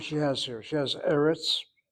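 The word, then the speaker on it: ארץ: She has eretz. Eretz, the accent that's on that first syllable, as she indicates whenever there's an accent, not the last syllable, she puts that marker there.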